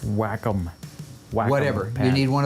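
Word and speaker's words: Wacom: You need a new off pad. Would you get on that? Oh, it's pronounced whack-em.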